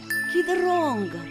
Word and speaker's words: кидронгар: Подснежник по-марийски скажем «кидронгар». Кидронгар. Подснежник. Юкечи, в этом слове, кроме красивого марийского звука «и», есть еще один интересный марийский звук.